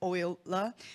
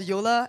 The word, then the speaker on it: Euler: It's pronounced as Euler, just as Euler. It's not called Euler, it's wrong.